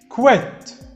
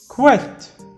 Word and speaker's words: quit: ال3 كلمات شبه بعض فعلا، بس النطق بيختلف والمعاني بتختلف تماما. الكلمة الأولى quit quit quit quit يعني يعتزل أو يترك أو يترك منصب أو مثلا يعني يستقيل.